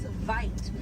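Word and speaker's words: wyd: Original word for white rhino was vite. Vite means wide in Afrikaans, but over time it was misheard and mispronounced, and it turned into the white rhino.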